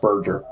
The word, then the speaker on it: Berger: The radio operator, Staff Sergeant William Berger, or Berger, Berger, I think. I think it's pronounced Berger.